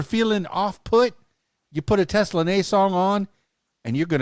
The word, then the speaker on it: Teslanay: Well, actually, my legal name, my government name, it is pronounced Teslanay.